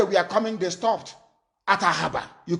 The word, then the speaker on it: Ahaba: They stayed at Asaba, Ahaba to pronounce the correct name, and they came to Omai in Ibeku, and we harbored them.